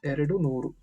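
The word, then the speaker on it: ಎರಡು ನೂರು: 200 is pronounced as Eradu Nooru. Eradu, right? 2 plus 100, right? Eradu plus Nooru, it becomes Eradu Nooru.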